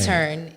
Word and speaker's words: E-Turn: And then E-turn, 2 syllables, and easy. Skip was like street sign, like U-turn, but E-turn.